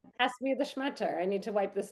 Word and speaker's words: shmatta: Like, pass me the schmutter. I need to wipe this down. Wow. Oh, that's so Okay. But it's really pronounced schmuta.